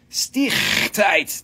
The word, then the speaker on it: stichtite: Stichtite, that's how they say it in South Africa, Stichtite.